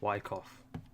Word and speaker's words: Wyckoff: And all of that is Silent C, Wyckoff.